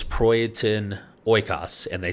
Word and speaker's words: Oikos: brands incorrectly for years it's not oikos it's oykas which they tell us